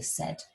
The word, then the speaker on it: said: You wouldn't say s, a, I, or s, a. You just say said.